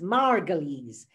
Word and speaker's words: Margolyes: soul joseph margulies and by the way it's pronounced margolies not goals margolis was harry margolis the band